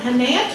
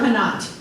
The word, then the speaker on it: Hanat: Is it Hanat or Hanat? However you want to say it. The second way is the correct pronunciation.